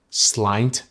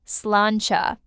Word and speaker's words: sláinte: Now, what about that Irish word, slaint? It's pronounced sláinte.